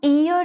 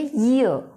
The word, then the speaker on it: year: देख सकते हैं कि जो ये वर्ड होता है YEAR, इसको हम ईयर नहीं बोलते होते, इसकी करेक्ट जो प्रोनाउंसिएशन है वो होती है ईयर, ईओ, ईयर, या फिर ये भी हो सकती है।